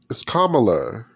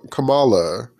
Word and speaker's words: Kamala: her name, but like when people say it wrong, I'm like, that's not her name. It's Kamala, and they call her Kamala, and I'm like, that's a whole different like person.